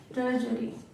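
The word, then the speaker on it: tertiary: अब 3 टर्जरी colours. Pronounce तो टर्जरी होता है, इसीलिए मैं यहाँ पे टर्जरी लिखा है।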